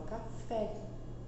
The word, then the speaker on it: café: Quando a gente fala, por exemplo, café, a gente não fala café, a gente fala café.